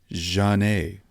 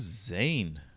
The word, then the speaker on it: Zhané: it's two women and it's spelled Zhane, but with the little thing over the E. And I'm like, who's Zane? I will tell you what. Zani? He's like, I will tell you what. Zhané.